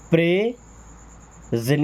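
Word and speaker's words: present: then प्रेजेंट, इसको सेन नहीं पढ़ते जेन, प्रेजेंट, टी है ना तो प्रेजेंट, आपने प्रेजेंट पढ़ा होगा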